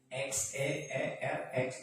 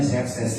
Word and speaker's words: Xerxes: Kerajaan yang terkenal Darius atau Xerxes, Xeerx, bacanya Xerxes ya.